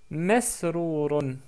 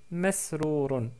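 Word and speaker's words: مسرورٌ: la lettre mim, donc on prononce ma avec la fatha, et on obtient, bien sûr les autres lettres sont évidentes pour vous, c'est masrourun, masrourun, ou masrour tout court.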